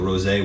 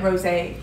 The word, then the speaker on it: rosé: It's got the little accent on there, so rosé water. Oh yeah, rosé. I didn't enunciate it properly.